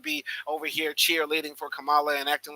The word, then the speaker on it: Kamala: my name is first my name is pronounced Kamala Kamala Kamal La that's what I've been